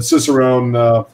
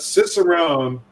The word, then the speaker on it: cicerone: to realize this but cicerone and sommelier both start with the same they both have the same rhythm same number of syllables they both start with that sibilant s sound so there's a great